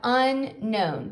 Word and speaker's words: unknown: word is unknown now keep in mind this that k is a silent k so we have unknown to know something means